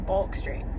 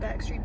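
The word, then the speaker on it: Bourke Street: I don't know if that's how you say it. Back street. Bork street. Back. Back sounds more right. It's like Queen Street and Back Street. Balk Street. Whatever. It's spelled with an O. So So don't judge a little dyslexic girl for calling it bulk.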